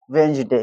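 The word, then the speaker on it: Wednesday: डी हो जाता है साइलेंट और क्या हो जाएगा? वेंजडे।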